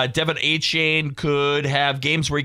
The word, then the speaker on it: Achane: NFL, Dolphins head coach Jeff Halfley says Devon Achane could have games where he gets more than 40 touches. Did you say that right, Marcus? Uh negative. Achane like Travis. Achane.